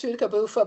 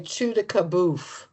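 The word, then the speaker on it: Pchoutacaouffa: Technically it's chuda kabofa, but most people around there just say chew kabof.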